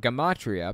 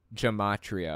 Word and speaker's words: gematria: You're talking about gematria, pronounced with a hard G. Yeah, I was pronouncing it gematria originally in the video.